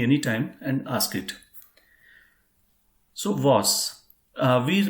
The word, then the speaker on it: was: So if you pronounce it, it will be like VAAS in English.